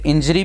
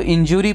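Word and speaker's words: injury: तो बहुत से लोग इसको इंजूरी प्रोनाउंस करते हैं, इंजरी है लेकिन इंजूरियस होता है वो ज़रूर ज्यूरी के तौर पे प्रोनाउंस होता है, इस चीज़ का ध्यान रखिएगा।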